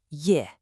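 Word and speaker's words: 叶: The first one you see is pronounced Ye.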